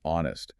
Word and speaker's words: honest: The tricky ones are words like hour or honest. They start with a consonant letter h, but the h is silent. So, the first sound is a vowel. Therefore, it's an hour. An honest mistake.